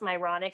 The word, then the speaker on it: Myronuk: of humor you know my last name is literally myronic or you know pronounced myronic spell differently but it's kind of funny